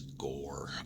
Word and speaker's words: Ghoere: next one here is gore which is actually pronounced that way with again all the weird sort of spelling conventions and stuff that the setting has but gore so another one that